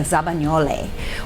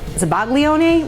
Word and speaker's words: zabaglione: Because now we're gonna make a zabagnole, which when I first started culinary school, I called it zabaglione, which please don't kill me, the Italians out there. Zabagnole is how you say it in Italian.